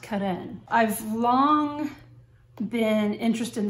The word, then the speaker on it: Carene: My mind wants to say Carene, you know, but I believe it's pronounced Carene.